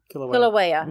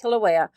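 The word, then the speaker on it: Kīlauea: it that she resided in the crater of Kilauea. Uh-huh. How do you say that? Kilauea. Yeah. I keep forgetting how to say it. Kilauea.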